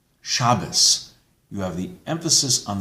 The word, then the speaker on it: Shabbos: However, if the Tav does not have a dot, in an Ashkenazi pronunciation, it's pronounced like an S. So that's why Shabbat, Shabbos.